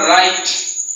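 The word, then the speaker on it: write: ডাব্লিউর পরে আর এইচ যদি থাকে তাহলে ডাব্লিউ সাইলেন্ট থাকবে। প্রিয় শিক্ষার্থীবৃন্দ, এই জায়গাতে যখন আমরা রাইট আর আইটি রাইট উচ্চারণ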